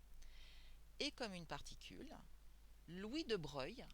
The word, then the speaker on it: de Broglie: comme une particule louis de breuil alors ça s'écrit de broglie mais on le dit on les nonces louis de breuil donc lui de breuil